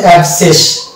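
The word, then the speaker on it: abscess: তাহলে C silent হয়ে যাবে এবং এই শব্দটির অ্যাকচুয়াল প্রনাউন্সিয়েশন হবে অ্যাবসেস। এই জায়গাটাতে শুধু এস দন্তস্ব,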